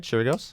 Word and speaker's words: Chirigos: Did I pronounce it right? Chirigos?